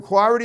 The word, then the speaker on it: Cloherty: And now, Michael Cloherty, is that how you say it?